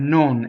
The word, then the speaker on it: non: We've had so, but we haven't had non. Non is closed O. No, meaning no, is not open O. Non, meaning not, right? Right? Or it's a negating word, is closed.